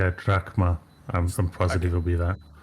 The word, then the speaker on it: drachma: Oh, it's drachma. Is that how you say it? Because it's a delta. P is a row, so it's an R. So it's drachma.